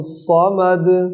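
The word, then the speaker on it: صَمَد: स्वाद को पुर करें, अल्लाहु समद।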